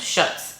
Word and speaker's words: Schutz: These are Schutz. I finally learned how to say this brand, Schutz.